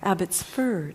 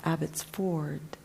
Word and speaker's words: Abbotsford: amet saret sinder broadcast the correct pronunciation Abbott's fur not Abbott's Ford Field mother daughter Aunt